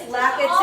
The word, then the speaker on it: lekker: I've heard a lot of funny things. Yes. Lekker and then when we talked about it, it was like Lekka, and I'm like, we need to educate.